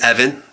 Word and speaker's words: Evan: from aboga and furthermore my name is Evan rhymes with heaven and really and Kevin